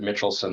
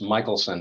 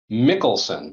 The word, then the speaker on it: Michelson: people often pronounce it mitchelson that's very very common um it's actually pronounced Michaelson it's it's not not intuitive um although I do